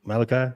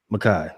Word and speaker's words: Mekhi: Did I say his name like Malachi, or is it Mekhi? Mekhi.